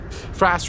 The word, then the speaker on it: Fras: Fras rhymes with lass, but Fras is no lass.